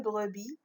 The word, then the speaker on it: brebis: Une brebis, la lettre muette, c'est S.